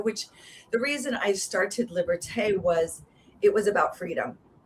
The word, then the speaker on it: Liberté: Yeah, Liberté. It's like liberty, what? So no. So yes, it's more, we focus on the European way, right? So yeah, Liberté, which the reason I started Liberté was it was about freedom.